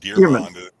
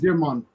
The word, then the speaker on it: DeArmond: It's not pronounced Dieramond. No, it's the font wouldn't do it, but it's capital D, little e, capital A. So it's Dearmond.